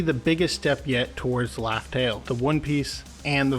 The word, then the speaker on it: Laugh Tale: it turns out that Oda hid the true name of Rafel through a purposeful mispronunciation the final island is laugh tail named by gold D